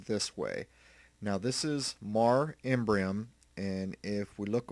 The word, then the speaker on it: Mare: If you look over here, this is Mare, or Mar, I will say, I'll pronounce it Mar, which means sea, Imbrium.